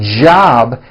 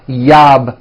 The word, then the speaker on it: job: never so for example the word job has a J at the beginning job it's never yab my yab it's always my job with a strong J sound job my job like